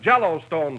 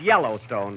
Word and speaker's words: Yellowstone: Out West we have Jello Stone Park wait a minute wait a minute that that's pronounced Yellowstone Don but I can see